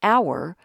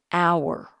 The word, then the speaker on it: hour: always a consonant but in this word the H is silent remember we're going to use an before a vowel sound the first sound you hear in the word hour is ah ah so